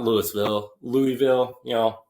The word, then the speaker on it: Louisville: definition it said it said Louisville pronounce it like you've been drinking our bourbon you know it's like so if you have it's like slur it it's Louisville Kentucky and so from